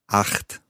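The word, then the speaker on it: acht: 8, 8. Now, that's that ch sound, which for a Scot is quite easy to say.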